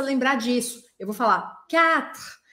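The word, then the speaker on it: quatre: Só que esse U aí do meio não é pronunciado em francês. Eu preciso falar 4, 4, 4. Eu não vou falar U, tá?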